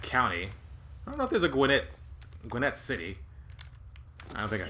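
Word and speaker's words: Gwinnett: I'm in the Wasteland gwet Stout uh or Gwinnet Stout although I pronounce it gwet um I do live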